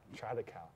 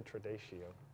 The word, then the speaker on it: Tradição: Tradição, okay. Because I always say Tradicio.